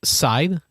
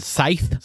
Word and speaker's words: Scythe: versus scythe yeah and it's pronounced side not scythe yeah i know yet